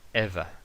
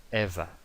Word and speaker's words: ever: Esto se pronuncia Eva, Eva, Eva, como el nombre de Eva, pero la V ya